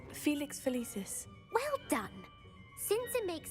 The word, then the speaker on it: Felix Felicis: The Felix fellas. I probably butchered that. I thought that was the cat po. The cat potion, right? Felix Felicis.